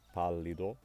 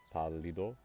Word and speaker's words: pallido: However, in Spanish, if I have a word that's stressed on the third to last syllable, and it ends in